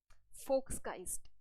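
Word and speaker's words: Volksgeist: फोक्सकाइस्ट, इसका प्रोनाउंसिएशन क्या है, फोक्सकाइस्ट। एम I right? Yes, it's called फोक्सकाइस्ट।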